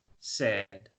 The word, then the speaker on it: said: sorry said remember said the pronunciation is said the I it doesn't it is not pronounced she said she said